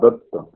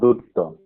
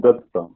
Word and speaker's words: Datta: She is Pritilata Vaddedar and she is Kalpana Datta, not Dutta. Pronunciation is Datta. Spelling is different.